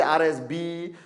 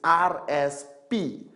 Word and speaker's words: RSP: Now this is causing a lot of, people can't even pronounce it. I met some people from some countries, they say RSB, RSS. It's RSP, Retail Sales Points.